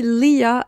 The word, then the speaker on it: Leah: Alors, petite erreur découverte au montage, on dit pas Lee, mais on dit Leah apparemment, voilà.